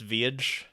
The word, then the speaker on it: Village: It's actually pronounced Viage. Viage. Yeah. It's got like that double. I mean, if we're doing the whole European thing, there's some I's and they could be I's. It might be L's.